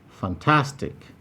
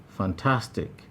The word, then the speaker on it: fantastic: fantastic fantastic here we have three syllables fan tas you'll find that task in option b is highlighted that is the place with the primary stress tatin monolithic monolithic here